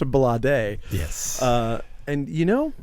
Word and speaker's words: Blade: He's Sade's son, so his name is pronounced Balade.